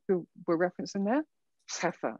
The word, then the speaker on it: Scheffer: I'm presenting the work that all that work is the work of Carpenter and Scheffer, who were referenced in there. Heffer, I think you're supposed to pronounce it, and their colleagues.